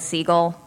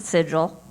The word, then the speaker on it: Sigil: plcape they talk about seagull or S uh never pronounce it sigil because anyone in the city will instantly know you are not from the city if you pronounce it sigil and that is one